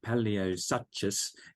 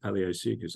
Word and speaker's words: Paleosuchus: And when you're a kid, you see these names, you have no idea of the pronunciation. So here I am, Paleosuchus, so it was Paleosuchus for years and years and years, one of the dwarf caimans.